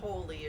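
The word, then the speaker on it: wholly: it's a mash-up because it's spelled w-h-o-l-l-y it's not holy as you would think h-o-l-y so tell us a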